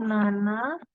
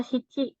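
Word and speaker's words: 七: 6 itu ro ku 7 tuh Nana kadang juga dibaca Cici gitu 8 itu haji tergantung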